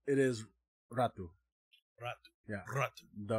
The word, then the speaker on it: Ratu: Ratu. The R is rolled. Ratu.